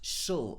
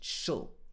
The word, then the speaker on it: shall: and see you later this sometimes it can be pronounced shul as well this is the weakened pronunciation shall ask ask ask him